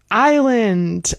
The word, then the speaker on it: island: Island also. Yeah, that's one where we never pronounce the s.